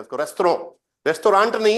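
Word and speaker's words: restaurant: क्योंकि फ्रेंच में लास्ट का लेटर प्रोनाउंस नहीं होता है ना। जैसे देखो, जैसे किसी लड़की का नाम ना ये है, उसको मेगेली पढ़ेंगे, वो मेगेले नहीं पढ़ेंगे, ध्यान देना, ये है, इसलिए रेस्तोरों पढ़ते हैं उसको, रेस्तोरों, रेस्टोरेंट नहीं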